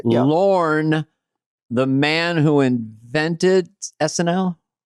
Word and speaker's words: Lorne: and in life, but the people that call him Lauren and they spell it Lauren, like the female name, is pretty interesting because,